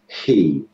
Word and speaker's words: chi: alphabet is is is the H and it's pronounced as ke okay many people say chi but that's the the angle Siz pronunciation is